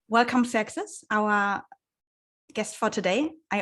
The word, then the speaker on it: Xerxes: So in German, yes, it's Xerxes. Xerxes, in English, it's Xerxes.